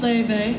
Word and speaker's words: Laufey: If you don't know me, my name is Leve. Yes, that is how it's pronounced.